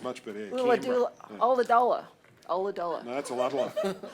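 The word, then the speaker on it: Ulladulla: Ula-dula- Oladola. Oladola. No, that's a lot. I used to say Adula, and they all made fun of me.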